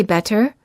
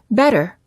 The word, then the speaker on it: better: When T is between two vowels. The T sounds like a fast D sound when it's between two vowels. When a T is between two vowels, it's generally pronounced like a fast D sound. We don't say better, we say better.